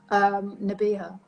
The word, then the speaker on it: Nabihah: So where's the stress? Which one has the emphasis? Which syllable? Nabihah. Okay.